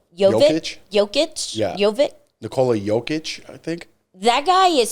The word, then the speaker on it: Nikola Jokic: Nikola Jokic, I think.